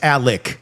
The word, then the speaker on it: Alex: But it's Alec even though it's spelled Alex.